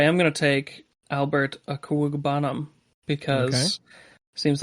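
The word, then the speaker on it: Okwuegbunam: Oh yes, that's Albert Agabuka. Yeah. Nice. Yeah. No, it's Albert Aquagbunum.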